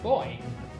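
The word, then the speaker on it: Bowser: attention Buie vase as Americans pronounce the words both bu over the wine which is terrible way to pronounce that it is boy just as in the word buoyant wait I was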